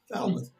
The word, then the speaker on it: Falmouth: Falmouth.